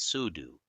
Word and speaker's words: sudo: We use sudo pronounced as sudu because copying files into this location requires system permission.